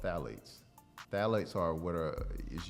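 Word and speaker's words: phthalates: label and you see phalates it starts with a P the p is silent but the phalates when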